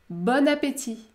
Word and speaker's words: bon appétit: une voyelle nasale on en effectuant la liaison vous allez prononcer le a ouvert par exemple bonne amie bonne amie bonne amie ou encore bon appétit bon appétit bon appétit si vous